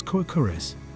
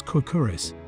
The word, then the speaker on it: Kourkouris: The older name of the church was Kourkouris, while it is referred to also as Kourkouris [stressed on the last syllable], most probably from the name of the original owner of the chapel.